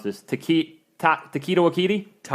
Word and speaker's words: Taika Waititi: Next thing is, got to remember I mispronounce this, Taika Ta- Taika Waititi.